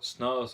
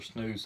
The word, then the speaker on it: snus: And they call it snus or snooze, however you want to pronounce it.